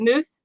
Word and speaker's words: Muth: your last name wrong is it moose yep moose okay I just want to